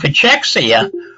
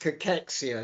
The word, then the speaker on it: cachexia: you since 60 of us will get uh pachexia why not uh talk about it i mean